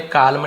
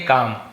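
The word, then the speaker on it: calm: Birbal always काम and thoughtful, Birbal always हमेशा काम, यहाँ पे काल्म नहीं पढ़ेंगे, काम, एल साइलेंट रहता है।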